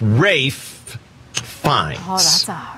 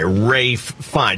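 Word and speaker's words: Ralph Fiennes: yeah dave is right when you're looking at the man's name spelled out it looks like it's ralph uh fiends viennas but his name is rafe fine and no one gets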